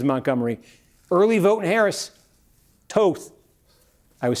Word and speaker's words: Toth: Early vote in Harris, Toth.